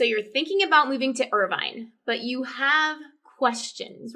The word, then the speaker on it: Irvine: different neighborhoods right like how do you say irvine is it urban ivan it's irvine it's irvine and you probably have